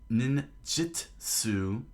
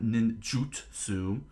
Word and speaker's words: Ninjitsu: ability is based around what is called Ninjitsu, Wizards of the Coast, not Ninjutsu. It's not spelled with a U; it's spelled with an I.